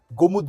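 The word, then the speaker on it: Golmud: है भाई प्रोन्सिएशन में जैसे मैं गोलमुड गोलमूड करता हूं तो गोलमुड नहीं है एक्चुअल में गोमुत गोमुत कहते हैं उसको गोमुत एल साइलेंट है ऐसे ही अभी मैं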